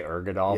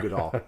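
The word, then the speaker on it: Uigeadail: Ugadal. There's no close. R in it. We always say Ergadal, Yeah, but there's it's no R. Ugadal.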